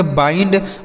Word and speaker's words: bind: तो बी से हो जाता है ब, इस आई का उच्चारण आई पढ़ना है। ठीक है, ई नहीं पढ़ना, आई। यन से आधा ना और डी से ड। इसे पढ़ेंगे बाइंड, मतलब क्या होता है?